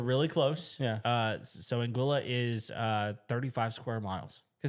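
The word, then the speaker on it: Anguilla: I've always said like Angala. Nope. It's Anguila.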